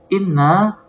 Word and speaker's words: إنّ: Lihat di sini inna ya, hamzahnya di kasrah, membacanya inna.